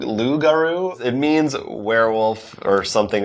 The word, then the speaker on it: loup-garou: to you I believe I think it's a silent P I can't be positive about that lude loup-garou it means werewolf or